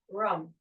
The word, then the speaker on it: Ram: Maybe use rum, rum, rum. It's pronounced R-U-M, but it means Ram, an incarnation of the divine.